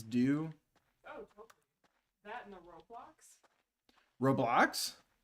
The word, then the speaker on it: Roblox: that in the roblox roblox how you say it it sounds like roadblocks roblox roblox uh i'm stuck